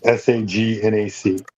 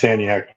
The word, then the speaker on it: Sagnac: S a g n a c. No. It's actually pronounced saniac. No. I say sagnac so you can hear the the letters.